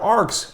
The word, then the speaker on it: Arch: fascinated by the arc spelled arch pronounced arc and the whole idea